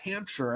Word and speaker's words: Hampshire: And the first one was correct, Hampshire. Okay, so like just like how we pronounce New Hampshire in the U.S.